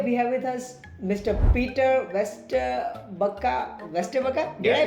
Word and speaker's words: Peter Vesterbacka: Peter Vesterbacka. Did I pronounce that right?